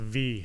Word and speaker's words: Vi: Her name is actually pronounced V, by the way. V? Oh, V. Okay, yeah, Delilah Dawson. If you follow her on Twitter, she actually went on and like corrected everybody. She goes, everyone's saying it wrong. It's V.